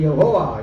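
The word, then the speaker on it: Yahweh: Bible ദൈവത്തിന്റെ പേര് എങ്ങനെയാ എങ്ങനെയാ പറയേണ്ടത് എന്ന് അറിയണ്ട യാഹുവേ ഓക്കേ യാഹുവേ യഹോവ എന്ന് പറഞ്ഞാലും കുഴപ്പമില്ല പക്ഷേ പൂർണമായ ശരി എങ്ങനെ യാഹുവേ യഹോവ എന്ന് പറഞ്ഞാൽ തെറ്റാത്ത പൂർണമായ ശരിയാകാത്തത് എങ്ങനെയാണെന്ന് വെച്ചാൽ എബ്രായ ഭാഷയിൽ വൗവ്വൽസ് ഇല്ല കൃത്രിമമായി പിൽക്കാലത്ത് ഉച്ചാരണത്തിന് വേണ്ടി ഈ അയ്യോക്ക് തത്തുല്യമായ ചിഹ്നങ്ങൾ പിന്നെ ഉണ്ടാക്കി ആ ചിഹ്നം വെച്ച് യാഹുവേ ഇടയ്ക്ക് ഇട്ടപ്പോൾ യഹോവയായി ശരിക്കും എങ്ങനെ പറയണം ഇംഗ്ലീഷ്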